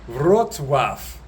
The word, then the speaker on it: Wrocław: I've figured out how to say the name of the city, Wrocław. although it's spelt very differently, as you can see on the screen.